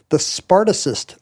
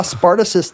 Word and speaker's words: Spartacist: But when the hard C of Spartacus turns into a soft C, you kind of lose the connection.